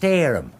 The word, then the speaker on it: Steerham: It's pronounced Stareham.